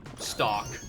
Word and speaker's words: stalk: Yeah, there is a stock market spelled S-T-A-L-K, stock market. Or stalk. But no one pronounced it beanstalk.